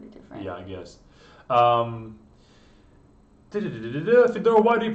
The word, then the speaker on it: Fyodor: Americans can't pronounce his name, so that's why he says Fedor and not Fyodor. Yeah, it says Fyodor, and for Americans that Fyo sound is almost impossible for them to do.